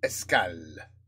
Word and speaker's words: Escales: We got étrange escals. I don't think you pronounce the s strange stops or something.